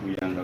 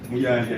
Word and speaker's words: Muyanja: Simon Muyanga Butaya. Am I pronouncing the name wrong? Am I pronouncing the name wrong? My lord, I'm Alex. Simon Muyanga Butaya. Muyanja, I think. He has corrected me, my lord.